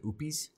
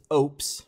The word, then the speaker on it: Oupes: to pronounce the word so I just said opies Opus anyway I actually looked up this time it's oops like oops like they got a slogan it's like no oops with oops anyways Ops has been